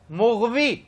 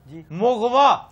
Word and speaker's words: مغوی: تسی ایک لفظ ہے مغوی. ہاں جی ہوئے گا. یہ ہم پہلے کر چکے ہیں کہ مغوی غلط تلفظ ہے. یہ پتہ کیا ہے؟ مغوا.